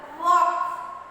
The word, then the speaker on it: walk: For example, walk. W-A and K is pronounced. L pronounce agangilla. Yes or no? L is not pronounced.